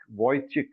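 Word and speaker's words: Vujicic: this guy called uh Nick vo chick vo chick I think that's how it is pronounced Nick n i c k voy chick it is written as v u j i c I may I suggest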